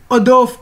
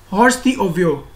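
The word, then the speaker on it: hors d'oeuvre: So it's, as you can see the word, it's not pronounced as the English word, as these are the French words. So these are pronounced, it is pronounced as adorf, adorf, not horse the ovio.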